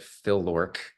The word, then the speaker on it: FLOrk: So that's how I pronounce it, Phil-LORC.